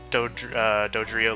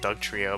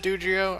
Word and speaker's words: Dodrio: So this is what the Dodrio looks like. I used to just call it like Doug, not like Doug Trio, but it's real close.